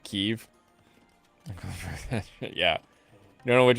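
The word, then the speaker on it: Kyiv: The interpreter pronounced Kiev correctly. I hate when people call it Kiev.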